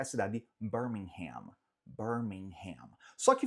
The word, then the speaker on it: Birmingham: Só que fato curioso, assim falamos nos Estados Unidos, tá? Então, Birmingham, Alabama, então a cidade no Alabama, mas no Reino Unido não se fala Birmingham, pelo menos não no inglês britânico. Fala Birmingham, Birmingham, Birmingham.